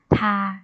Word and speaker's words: 他: ออก เสียง ว่า ถ้า ตาม ค่ะ อ่ะ ถ้า ทา จะ ไป นะ คะ เขา ผู้ หญิง นะ